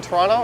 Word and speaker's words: Toronto: sounds more like blur it's kind of like the second T in Toronto if people pronounce it hard you know they're probably new here another sure sign